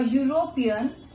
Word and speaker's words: European: So here see E is vowel, but we have used A before this E. Why we have used? Because it is producing, it is not giving the sound of vowel, it is giving the sound of consonant.